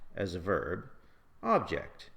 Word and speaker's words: object: For example, we say record as a verb, record as a noun, object as a verb, object as a noun, present as a verb, present as a noun.